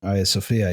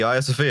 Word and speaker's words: Hagia Sophia: Hagia Sophia, yeah. Is that really how you... That's really how you say the Hagia Sophia.